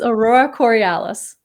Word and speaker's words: Aurora Corialis: How do you pronounce that? It's Aurora Corialis.